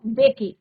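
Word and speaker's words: Mbeki: Then थैबो, अब यहाँ पे एम साइलेंट रहेगा बच्चों, बेकी।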